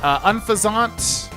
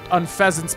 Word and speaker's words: Unfezant: Unfezant, or Unfezant? Unfezant. Oh, I see why Wolfie says it now. It's spelled like Unfezant.